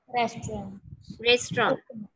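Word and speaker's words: restaurant: जो लास्ट वाला टी है वो साइलेंट है। रेस्टोरेंट।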